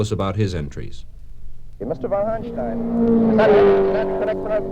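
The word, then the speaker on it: von Hanstein: von Hunstein. Is that correct pronunciation?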